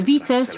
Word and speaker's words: Vitus: They are soon dragged into a deadly game of cat and mouse, with Dr. Vitus, rhymes with fetus, Vertigast, and Haumar, easy for you to say, Pulzig.